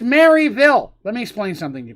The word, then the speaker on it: Maryville: with flying it goes to maryville and it's pronounced maryville let me explain something to people here real